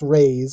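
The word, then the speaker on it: raze: Another raise uh uh another way, another word that is pronounced raise is r a ze, which means to destroy, usually by mean of burning.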